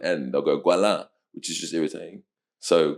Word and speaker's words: Goualin: So it's like um it's French and um the uh the French pronunciation is guala. Mhm. Um, but the English pronunciation is Gualin, which is so much uglier.